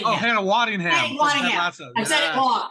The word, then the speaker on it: Waddingham: Hannah Weddingham. Oh, Hannah Waddingham.